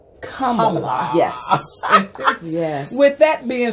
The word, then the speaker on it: Kamala: Put a K on it. Take the P off. Put a K on it. Kamala.